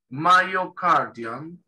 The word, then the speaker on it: myocardium: En inglés sería myo, esto se pronuncia como una AI, esta Y, myocardium, esta U parece una A, parece, pero no lo es.